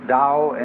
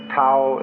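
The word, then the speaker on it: 道: called the dao tao pronounced dao in the mandarin dialect tao in the shanghai dialect toe in the cantonese dialect take your choice dao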